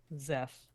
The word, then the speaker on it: Zeph: Zeph, like Jeff.